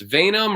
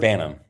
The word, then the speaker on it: Vanum: So it's either going to be pronounced Venom or Vanum. What have you heard? I've heard Vanum. Okay, that's what I thought. So this is Vanum, Legend.